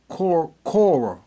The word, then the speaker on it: Quora: How do you pronounce Quora? Cora.